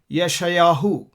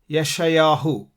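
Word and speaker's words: ישעיהו: ul Kings Mela him Malik him Isaiah is Yeshayahu Yeshayahu Jeremiah is airman Yahoo yirme'yahu Ezekiel is Yehezkel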